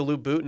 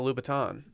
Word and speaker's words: Louboutin: i see the word i just go straight into lou bhutton instead of louboutin uh girodelli is from